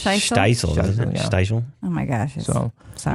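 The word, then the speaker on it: Shtisel: Steisel. Oh my gosh. So, Sorry. My wife corrected me. Sorry, guys. Oh. There's no I before the T.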